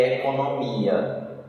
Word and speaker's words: economia: Goiás, amônia e economia. Olha aí o gabarito, letra E. Economia. Então, com circunflexo. E a sílaba forte é mi.